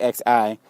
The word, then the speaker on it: Xi: Okay, China's Xi, which is it's spelled XI. It's called Xi.